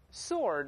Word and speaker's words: sword: 读成 sword，或者英文读成 sword，不要读 sword， sword 都不对，读成 sword，或美国人读成 sword， W is silent，这个 W 不